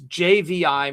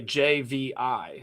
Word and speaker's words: JVI: And a lot of times these AI tools when I say JVI when the AI says it, it's like JV or JIV or it's just odd, right? So you can actually use a brand glossery and you could like phonetically say like J A Y V E like for I, right? So, and then it'll say JVI.